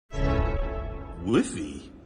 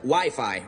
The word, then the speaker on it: Wi-Fi: Whiffy? Or wifey? Well, it's either wiffle ball or an arranged marriage game. It's actually pronounced Wi-Fi, Ralph.